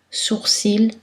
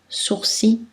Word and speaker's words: sourcil: Sa prononciation peut être variable, comme nombril ou nombril, persil ou persil, sourcil, sourcil.